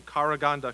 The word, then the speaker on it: Karaganda: debut you know Gennady might be from karaganda Kazakhstan pronounced correctly Thank You Gennady yes and he might